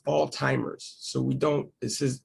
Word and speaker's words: Alzheimer's: so this is pronounced all timers so we don't this is it has a zh here but it's really not you don't really say zh you really say t so it's like all timers all timers it sounds